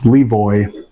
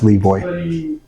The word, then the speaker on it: Le Voy: name Lee V so as it's spelled l space v y it's Levoy um some people want to use other ways of saying it but we stick with what you see and that's Levoy all right last question one